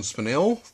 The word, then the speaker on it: Spinell: main character uh frank zito played by john spinell that's how you pronounce it um he's a bit um had